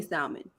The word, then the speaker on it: salmon: In my mind, it's like tomato, even though it's not, like the L is silent or whatever.